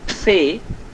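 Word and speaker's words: Ce: C, the English C has got is called say or say in German, and has got 4 sounds, and actually 3 sounds.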